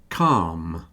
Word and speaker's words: calm: Palm calm tend to rhyme with farm.